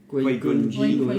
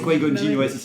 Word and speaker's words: Qui-Gon Jinn: Tu prononces comment? Tu dis Qui-Gon? Qui-Gon Jinn. Ah, c'est Qui-Gon Jinn, c'est bien, je retiens.